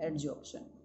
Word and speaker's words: adsorption: एडजॉर्प्शन spelling में यहाँ पर डी आता है, एडजॉर्प्शन.